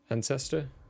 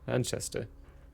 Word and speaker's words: Anchester: Ancestor? Anchester. We're gonna call it Anchester. That's how you pronounce that.